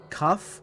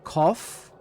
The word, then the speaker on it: cough: Cuff. Cough. Tough. Oh, cough. Tough. Okay. Not cuff. I always pronounced it cuff.